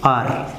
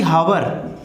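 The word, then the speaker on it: hour: तो यहाँ पर क्या भरा जाएगा, अ हॉर्स, यहाँ पर क्या भरा जाएगा, एन आर, क्योंकि इसका प्रोनाउंसिएशन होता है आर, ठीक है, ये सही है, ना कि हावर, ये गलत है, ठीक है।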